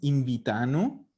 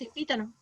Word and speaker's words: invitano: Ya, ojo una cosa, no es invitano, porque acuérdense que en un verbo en presente, el acento nunca carga en la terminación en loro. Entonces, Es invítano. eso, es Invítano. invítano. Gítano, claro. Gitano. Recuerden que en presente el loro nunca va a cargar el acento ni en ano ni en ono.